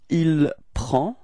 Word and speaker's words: il prend: Il and elle, so masculine, il, we get il prend. Okay, so same pronunciation, final D is not pronounced, so it's only the P-R-E-N, prend.